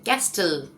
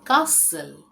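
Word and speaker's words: castle: मैं तो बचपन से ऐसे ही बोलती थी इसे कैस्टल। इसका मतलब है किला या महल या गढ़ लेकिन ये कैस्टल नहीं है। यहां पे टी साइलेंट है। तो इसका सही उच्चारण है कासल।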